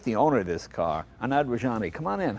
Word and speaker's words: Anand Rajani: But let's meet the owner of this car, Anand Rajani.